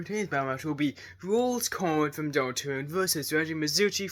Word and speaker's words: Rouxls Kaard: So yeah, if you guys don't know how to pronounce Rouxls' name, he's literally named after the Roll card, like a deck of cards. So it's Rouxls Kaard.